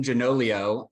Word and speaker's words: Gianoglio: So jumping right in, with me is my good friend, Jim Gianoglio.